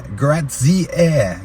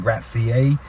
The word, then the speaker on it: grazie: Um, it took me a few goes. There was a young lad who was a waiter there and he pulled me up on my pronunciation every time I did it wrong cuz I was going gratier.